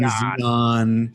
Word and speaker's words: Xi'an: All right, I'm just gonna say that American, Xi'an, John. But it's Xi'an. It's John. It's race John. We have our database of information, and there's a pronunciation guide, and that is the official pronunciation, Xi'an.